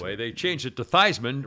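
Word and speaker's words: Theismann: they changed it to theisman rhymes with heisman that's a true story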